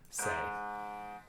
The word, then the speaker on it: se: It's got a flat on it, so not sol, but say.